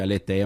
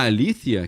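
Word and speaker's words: ἀλήθεια: tem a o que o pessoal chama de aleteia mas o certo a pronuncia liia em grego a alía que é a verdade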